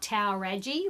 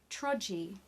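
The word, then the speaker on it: Towradgi: just never know T OWR ad GI not Tower Reggie which is how I've been pronouncing it for a long time trudge E TRO G Beach hotel and I hope you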